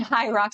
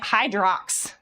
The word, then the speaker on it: Hyrox: Hi, Rox. Yeah, a lot of people spell it like that. Hyrox. Yeah. H Y R O X. It's not It's not a word. I didn't know what it I I was calling it Hydrox for like the first month